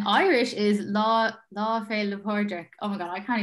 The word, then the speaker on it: Pádraig: Patrick's Day in Irish is Lá Fé le Pádraig.